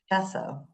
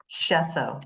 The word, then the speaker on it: Schoessow: Grace, I should have double checked how to present how to pronounce your last name. How do you say it? I'm so sorry. Chesso. Say it one more time. Shesso. Shesso.